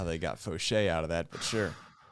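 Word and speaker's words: Faucher: And someone was like, no, it's not Fowler. It's Fauché. It's big league pronunciation. Yeah. I don't know how they got Fauché out of that, but sure.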